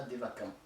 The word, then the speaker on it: Devachan: Les hindous le nomment Devachan. Bon, nous en Psyézo on prononce ça Devakan, comme s'il y avait un K, alors que ça s'écrit CH, si on veut l'écrire en français.